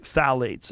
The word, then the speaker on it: phthalates: And when the introduction of phthalates, it starts with a P, P-T-H-A-L-A-T-E-S, I think it's how you spell it. You say phthalates.